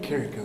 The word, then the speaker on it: Carrico: Let's talk to Corporal Carrico. How do you say it again? Carrico.